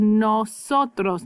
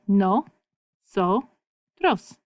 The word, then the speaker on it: nosotros: No. So. Tros. If you just block it into little sections, little chunks. Nosotros. Nosotros. Estamos. We are. And how we're feeling. Nosotros estamos bien.